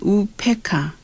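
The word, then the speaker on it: उपेक्षा: 우필차는 우페카, UPEKSA. 우페카. 이 한자 발음으로요.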